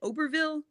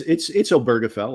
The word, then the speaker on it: Obergefell: And you were one of the lawyers on is it Oberville, the Supreme Court case that helped to get marriage equality? Am I saying it right? I might be saying it wrong. Yeah, it's Obergefell.